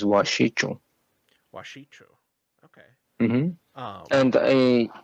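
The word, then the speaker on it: wašíču: And the pronunciation of that is, so the first part is like wash, Okay. W-A-S-H, so wash. So, but that C is a ch sound, so it's washichu.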